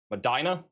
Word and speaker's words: Medina: In the Midwest, Medina is pronounced with a hard I Madina.